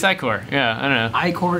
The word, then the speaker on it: ichor: I can fill it with magical ichor. That's pronounced ichor. Because the player might be 12 and have literally never seen the word ichor before.